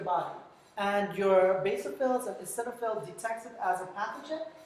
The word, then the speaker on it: eosinophils: The O here is silent. So eosinophils and basophils, they release chemicals.